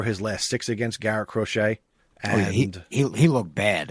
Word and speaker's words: Crochet: The Cro What's How do you pronounce the Boston's pitcher's name? Crochet.